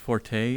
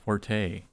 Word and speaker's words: forte: DT Vamp fun fact Forte is pronounced Fort not Forte pish posh Forte is